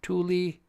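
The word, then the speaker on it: Tooele: it okay but yeah t o o e l e you should see how people try to pronounce this Tuli um as a matter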